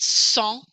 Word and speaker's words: sang: This word sang, I don't hear the G on the end. Sang. That word means blood. And if you say sang, you are an American and everybody knows it.